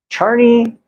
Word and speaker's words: Czarni: a foul now on Charney yaslow CZ a-r-n-i the c-z in Polish is usually pronounced and yaslow is j-a-s-l-o